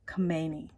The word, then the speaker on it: Khomeini: have Ayatollah this is how you say Ayatollah Khomeini that's what I call him ruholia Khomeini he